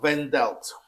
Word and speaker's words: Wandelt: by the name of Julia vendel I think that's how you say her name I know the V and the W swap but anyway she's a